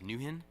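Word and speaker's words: NwHIN: the nwh I am also referred to as Newton there was nothing necessarily new about it it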